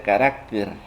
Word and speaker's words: carácter: porque tengo entendido que en singular se pronuncia carácter y en plural caracteres pregúntenselo a su maestro